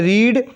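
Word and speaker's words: read: की बात करें तो जैसे देखिए रीड रीड रेड रेड spelling will be same spelling जो है सेम रहेगी प्रोनंसिएशन विल बी डिफरेंट लेकिन जो उच्चारण है वो उसमें अंतर आ जाएगा पहली फॉर्म को रीड बोला जाता है फिर रेड रेड तो इसलिए ये क्या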